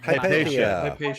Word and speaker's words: Hypatia: Hypatia. Yeah. Yes. I mean, I pronounce it like that because Americans.